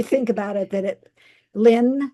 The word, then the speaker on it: Lin: Little did she know that it it li- or did she think about it that it Lynn, spelled that way rhymes with win, though.